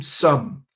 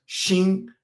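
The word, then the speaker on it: 心: For those who like food, dim sum. This is dim sum in Cantonese. In the Mandarin puna they pronounce as shin x i n. But in Cantonese this is called sum. Okay. Almost like sum.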